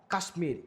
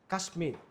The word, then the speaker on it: কাশ্মীর: ফলাযুক্ত কিছু সংস্কৃত শব্দ আছে এগুলোতে ম এর উচ্চারণ, যেমন কুষ্মাণ্ড, সুস্মিতা, কাশ্মীর। এখানে এই যে বর্ণটা এখানে হচ্ছে আসলে ম হবে কাশ্মীর, তাহলে আমার এখানে কি হচ্ছে?